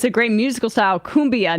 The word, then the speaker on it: cumbia: Cumbia, not kumbaya, says Penny from New Mexico.